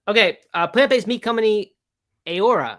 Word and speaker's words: Heura: uh plant-based me company aora I think is the name of it in Spanish uh it's spelled like hura h-e-u-r-a uh they collaborated with